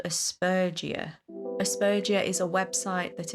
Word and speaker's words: Aspergia: It just occurred to me that it might be pronounced Aspergia. Like Asperger's. Jesus Christ.